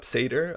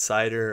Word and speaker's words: Seidr: It's actually pronounced Seidr, not cider or any other way.